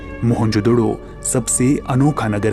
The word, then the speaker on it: मोहनजोदड़ो: में घूमा करते थे मोहनजोदड़ो शब्द का सही उच्चारण है मुन जोदड़ो और सिंधी भाषा में